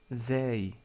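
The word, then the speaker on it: ز: Ensuite, nous avons vu la lettre Zay, Zay, qui est facile à prononcer parce que c'est l'équivalent de la lettre Z en français, comme dans le mot Zaytounatun ou Zaytouna tout court.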